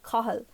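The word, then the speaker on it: Cathal: run too for example we have a few names here cahill which which is clearly using an english pronunciation whereas for example maybe someone i would know would say kahal and which is quite different but can't really be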